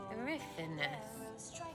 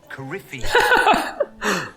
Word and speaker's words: Corypheus: Corypheus. Coryphinus. Corypheus.